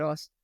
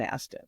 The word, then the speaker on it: Astin: Not Austin. Aston. Is it spelled like Aston? Astin. Astin. Yes.